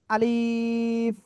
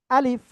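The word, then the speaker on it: ألف: বলেন সবাই আমাদের ভিতরে এক ভাই খুব সম্ভব বলতেছেন এরকম আলিফ এটা কিন্তু আলিফ এমন হবে না এটা হবে কি আলিফ আলিফ ক্লিয়ার ইনশাল্লাহ ক্লিয়ার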